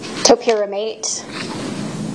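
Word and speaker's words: topiramate: Topyramate.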